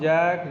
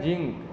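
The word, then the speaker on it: zinc: एज इन जोक, large, जैक, जॉय, जंगल, ये सारे में ज आएगा स्ट्रॉन्ग वाला। फिर ये वाले में है जिंक, तो जिंक नहीं, जिंक।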